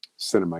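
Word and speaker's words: Sinema: Cinema? Is that how you say it? Cinema, yes.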